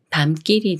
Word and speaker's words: 밤길: 다음에 길이라는 말이 와서 밤길이 되는데요 밤길이 밤에 건는 길이에요 이렇게 미음 받침이 초선 기역을 만나면 쌍기역 수리인 끌로 바뀌면서 밤길이라고 읽어요 밤길 밤길 예문 읽어